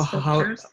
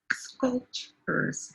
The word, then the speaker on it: sculptures: So Sculptures. how do we pronounce this? Sculptures. Sculptures. Sculptures. I'm typing the syllables. Skull. Sculptures. Sculpture. Sculptures. Yes, it's two syllables.